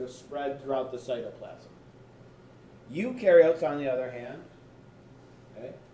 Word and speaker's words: eukaryotes: To help you remember, what I usually tell people is eu rhymes with do, because eukaryotes do have a nucleus.